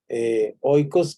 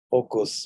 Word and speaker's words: oikos: Oikos como el yogur. ¿Recuerdan ustedes el yogur griego? Se llama así, ¿verdad? Ocos, bueno, se pronuncia ocos, pero lo podemos decir oikos.